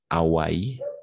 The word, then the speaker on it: Hawaï: ça les spoiler thriller en français est toujours muet donc on va prononcer ici par exemple Hollywood d'accord on va prononcer Hollywood on va prononcer de la même façon Hawaï d'accord Hawaï Hollywood bol